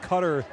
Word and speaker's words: Qatar: and by the way every qatari national has his or her own pronunciation of qatar it seems qatar is maybe the pronunciation you may have heard yourself but cutter is now in vogue we're going to stick with that here as afternoon gives